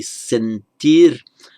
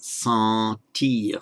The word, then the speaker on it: sentir: The N isn't pronounced as a separate consonant, but it has the effect of nasalizing the vowel. So in Spanish it would be sentir, but in French it becomes sentir.